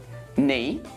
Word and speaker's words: knee: are some words when we don't pronounce the k knee knife Knights mint knob knock not no and knuckle what about the